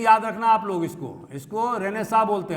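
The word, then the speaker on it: Renaissance: Spelling याद रखना आप लोग, इसको रेनेसां बोलते हैं। हालांकि रेनेसेंस होना चाहिए, लेकिन उच्चारण रेनेसां होता है, पुनर्जागरण।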